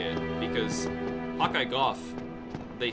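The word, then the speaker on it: Gough: Doesn't Goff pronounce his own name as Go, or am I misremembering? No, he says Goff. It was fans who said go.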